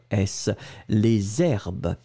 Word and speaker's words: les herbes: On fait cette petite liaison et on l'écrit H-E-R-B-E-S, les herbes.